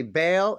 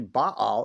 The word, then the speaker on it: Baal: Moloch, Baal, some say Bale, it's actually Baal is how you say it, but and Ashteroth.